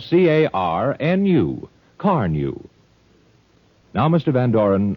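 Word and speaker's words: Carnu: It's spelled C-A-R-N-U. Car New.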